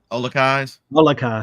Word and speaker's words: Olakai: You guys know how to pronounce it? Olakais.